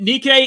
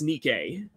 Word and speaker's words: Nikke: mj1 it's pronounced it Nikkei it's say Nike just with an extra K it's Nike just with an extra K it's Nikkei it's Nike with the